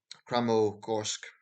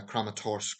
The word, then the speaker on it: Kramatorsk: the city of uh kramer korsk uh just checking pronouncing that right uh kramatorsk excuse me um there was uh